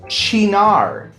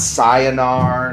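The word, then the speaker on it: Cynar: This is pronounced chinar. Chinar. Not sayonara, not kaineer. It's none of those. That last one was not even close.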